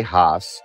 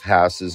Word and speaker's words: Hass: hass avocados on the shelf and it is pronounced hass a lot of people say haas other people say hass there's a debate i got a phone call from rudolph hass's grandson telling me specifically how to pronounce his